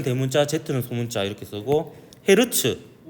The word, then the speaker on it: 헤르츠: 대문자는 소문자 이렇게 쓰고 헤르츠라고 읽기도 합니다 후르츠 아니 그 헤르츠란 사람이 전자기파의 존재를